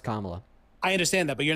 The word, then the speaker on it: Kamala: Her name mis- is pronounced Kamala.